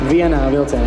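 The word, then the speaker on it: Vienā vilcienā: I tried to pronounce it, probably it's wrong, you need to correct me. Viena Vilcina. Viena Vilcina, yeah, that's right.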